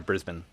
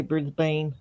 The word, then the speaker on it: Brisbane: Is it okay to pronounce it Brisbane or Brisbane? We like to pronounce it Brisbane. Okay. Yeah, but some people, probably most likely Americans, like to say Brisbane. Yeah, it's the kind of